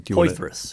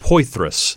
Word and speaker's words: Poythress: So Vern, I always mispronounce his last name. Poythress. Poythress.